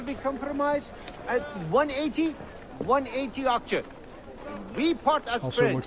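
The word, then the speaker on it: akçe: 180 aksha. We part as Also, it friends. looks like it totally is pronounced like Axie.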